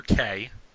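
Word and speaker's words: Cai: You also see among the nobles, you see Sir Kay. And that is spelled C-A-I.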